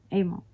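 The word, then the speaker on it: Emil: am a girl emo among we don't know his name yes it's uncle emo it's not an emoji email e-m-i-l okay amo that's how we pronounced it so is there anything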